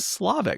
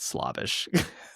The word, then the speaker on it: Slavic: Where's the Slavic? Oh, it would be Slavic, not Slavish.